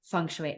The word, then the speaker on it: Feng Shui: Am I saying Feng Shui right?